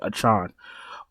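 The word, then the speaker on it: Achane: um how the did he want us to pronounce his name again ah a Tron that's right achon a child is going to be popular we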